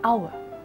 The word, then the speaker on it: hour: something else it is our who you are in this case again the vowel sound is more important than the spelling in which case you